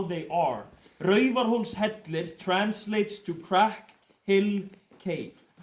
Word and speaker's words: Raufarhólshellir: It's Raufarhólshellir. We have to be able to pronounce this though.